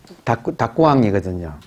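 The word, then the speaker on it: 沢庵: 닭구가 일본식 발음하면 택자, 못 택자, 택. 암은 암자, 암자, 택암. 태감을 일본식 발음이면 닭구왕이거든요.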